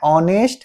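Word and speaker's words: honest: लेकिन देखने में यहां पे ऑनेस्ट एच पहले आया है।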